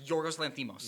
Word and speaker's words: Yorgos Lanthimos: Yorgos Lanthimos? Yes, Yorgos Lanthimos.